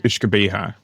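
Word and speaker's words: uisge beatha: The garlic word is ishabha which it sounds much better than the way I would have pronounced it.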